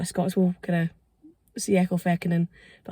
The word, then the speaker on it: Ecclefechan: I'm actually in the village of Ecclefechan, and that is how it's pronounced, because I think a lot of people